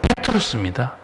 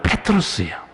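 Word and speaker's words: Πέτρος: 원래 발음은 페트로스입니다. 베드로 아주 부드럽게 번역해놨는데 원래 발음은 페트로스예요.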